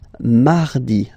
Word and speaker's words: mardi: You don't move your tongue, so it doesn't sound like mardi, no. It's really soft, mardi, mardi, mardi, okay?